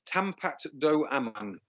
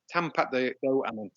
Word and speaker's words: Tampat Do Aman: do you want to give me the real pronunciation? I'll give you the real. It's Tampat Do Aman. Tampat Do Aman.